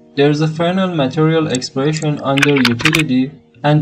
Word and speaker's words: Fresnel: and search for frel some call it fresnel but it's pronounced frenal there's a frenal material expression under utility